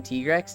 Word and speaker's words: Tigrex: I just realized how unoriginal the name Tigrex is. I love names like that, Kisu. Now that you told us how it's actually pronounced. It's Tiger and T-Rex.